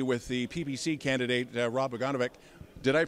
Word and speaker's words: Bogunovic: Don Lane, Chill TV, with the PPC candidate, Rob Boganovic. Did I pronounce that name right?